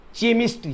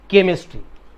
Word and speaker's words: chemistry: इसका प्रोनाउंसिएशन क्या होता है? चेमिस्ट्री, चेमिस्ट्री, चेमिस्ट्री, बट इट इज चेमिस्ट्री, इट इज केमिस्ट्री।